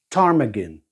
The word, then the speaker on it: ptarmigan: Tarmagan, a northern grouse with feathered feet and a silent pee, lives in Arctic and alpine regions.